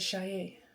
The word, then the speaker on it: Saye: Um, in previous videos, I've said Shai Shai. It is Shai. Okay? It's If you think of Shade and you take out the D, you swap it with the Y. That's my name.